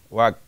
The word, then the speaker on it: walk: Write, read, draw, color, talk, run, jump, climb, walk, walk, nuha, walk, L is silent here, walk, kick, swim, fly, fly, eat, drink, play.